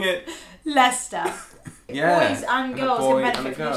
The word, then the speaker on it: Leicester: Leicester. Yeah. Boys and girls can benefit from this channel. Here's a 26-year-old saying it. Leicester. Here's a 54-year-old saying it. Leicester.